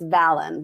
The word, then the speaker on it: Valen: It's Valen, like Valentine.